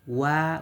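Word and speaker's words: は: यो पार्टिकल भएको कारणले कुनै पनि नाम सर्वनाम सँग यसरी यो हा लेटर आयो भने यसलाई वा उच्चारण गर्नुपर्छ र जसको अर्थ हुन्छ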